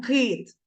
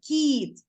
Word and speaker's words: кіт: ті як ми вимовляємо Ми не говоримо кит твердо А ми вимовляємо м'яко кінь Тому цей кити у нас М'який приголосний не твердий ми його не вимовляємо твердо тому що після к у нас стоїть голосний звук і і ми м'яко вимовляємо кіт Тому це к ця